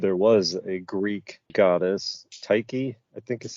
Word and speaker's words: Tyche: And indeed, there was a Greek goddess, Tyche, I think is how that would be pronounced, who was the goddess of chance, who